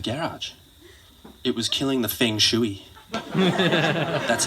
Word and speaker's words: feng shui: down to the garage it was killing the feng shui that's how you pronounce it i looked it up rich looks